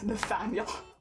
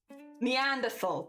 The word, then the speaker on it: Neanderthal: I always read it's Nathaniel. It's not Nathaniel. Neanderthal. That's how you say it.